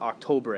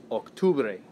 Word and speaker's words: octubre: that's not it septiembre same thing with octubre it's really close to october but it's not october eight octubre right so definitely spelling